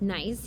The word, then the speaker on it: gneiss: It's pronounced nice, even though it's got a G. And it creates these flattened, twisted, and deformed features of the rock that don't look anything like granite afterwards. And gneiss is much, much stronger than granite.